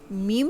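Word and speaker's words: م: क्योंकि यहाँ पर होंठ मिले होते हैं, आवाज़ को बाहर जाने का रास्ता नहीं मिलता, यहाँ से आवाज़ ब्लॉक होती है, इसलिए जब हम मीम लेटर प्रोनाउंस करते हैं तो हमें उसकी आवाज़ अपने नाक में भी, अपने नोज़ल पैसेज में भी सुनाई देती है।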